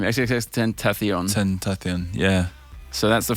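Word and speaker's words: XXXTentacion: XXX Tentacion.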